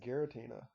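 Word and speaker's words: Giratina: we're going to cover is uh is it gutina is that how you say it yes gutina yeah gutina and the Sky Warrior and for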